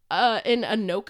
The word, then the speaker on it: Anoka: In Anoka, I believe is how it's pronounced.